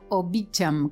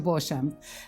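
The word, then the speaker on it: Beauchamp: no más o menos y bueno se puede pronunciar de las dos maneras yo como tengo muchos años de alliance française en muchos años del francés no puedo con mi genio y lo pronunció bojan pero en realidad los americanos le dicen beacham pero en realidad está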